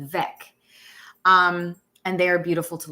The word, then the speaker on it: Weck: Is it pronounced Vec jars or Weck jars? Like with a V, Vec.